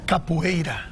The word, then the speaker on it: Capoeira: Pronounce it for me. Capoeira.